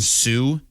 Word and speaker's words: Sault: Marie, and Sioux is spelled SAULT.